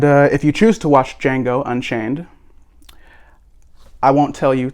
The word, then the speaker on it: Django: everywhere by tarantino titled django unchained the d is silent so yeah all right